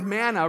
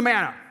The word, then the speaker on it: manna: words in the Hebrew the word manna rhymes with the word man who which means what is it and so they